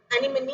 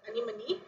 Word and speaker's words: anemone: you here we have a uh sea animal anime actually the pronunciation is anemone this is a sea animal called as ademsia